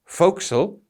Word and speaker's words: forecastle: The foredeck is the deck of a ship from the superstructure to the forecastle, and please note it's spelt forecastle but pronounced forecastle, and this is a raised part on the foredeck at the bow.